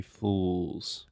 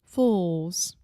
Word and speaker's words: fools: of Brazilians to pronounce because it has the final L sound which in linguistics if you are a linguistics nerd we call that the dark L so try to say